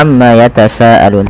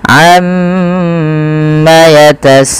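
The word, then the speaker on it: عَمَّ يَتَسَاءَلُونَ: teman-teman pada lafal bacaanalun di sini kita harus menahan bunyi suara mim yang berharakat tasdid karena dia termasuk daripada bacaan gunah nah jangan kita langsung baca Amma yatasaalun tapi tahan dahulu gunahnya atau bunyi suara mimnya sepanjang dua harakat Amma baru dilepaskan Amma yatasaalun kemudian PS di sini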